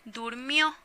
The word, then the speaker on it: durmió: a pasado diría él durmió algo que ya pasó él durmió entonces lleva acento en la última sílaba en la durmió si no diría el durmió y no se escucha bien o él comió no